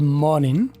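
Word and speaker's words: morning: बूढ़ा आदमी बोल रहा है गुड मॉर्निंग। और इसको मॉर्निंग का जी जो है वो आखिरी साइलेंट करके भी बोल रहा है।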